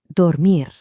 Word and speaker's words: dormir: For this next one, try lightly tapping the R at the end of the word right against the roof of your mouth. To sleep, dormir, dormir.